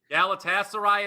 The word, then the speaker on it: Galatasaray: League this game goes on Wednesday can I pronounce this Gater against Byron Munich that's gaser Galatasaray is how you say it and I'll tell